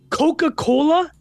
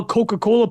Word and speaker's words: Coca-Cola: she's reading about how Coca-Cola people well Coca-Cola's got two things it's got the the strong k sound or C hard C and it also has the alliteration Coca-Cola my Google for